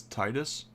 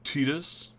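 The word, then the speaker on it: Tidus: That's is that that's Titus or Tetus as it's actually pronounced.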